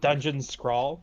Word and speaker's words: Dungeon Scrawl: Dungeon Scrawl, so it's like crawl but add an S on the front.